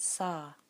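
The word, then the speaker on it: sah: As you exhale, the word sa, S-A-H, sa.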